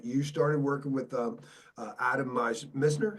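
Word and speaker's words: Mizner: the 37, that you started working with Adam Misner. How do you say his name? Mesner, yeah.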